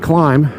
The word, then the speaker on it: Klim: jacket i love climb it's not pronounced klim by the way it's pronounced climb you see there's not just a dot above the eye there's a straight line above the eye which means you pronounce it as a long a